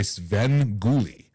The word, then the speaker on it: Sven Ghoulie: Um, Guan introduced me to this, so I ended up looking for it and I ended up finding a version hosted by Sven Ghoulie.